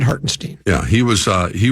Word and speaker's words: Hartenstein: I think that's where you have to say his name not hartstein hartstein I I said hartenstein yeah he was uh